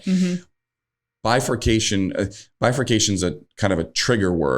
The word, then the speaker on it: bifurcation: Bifurcation.